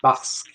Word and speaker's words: Basque: Infinite says Basque is pronounced Basque. Basque. It rhymes with mask.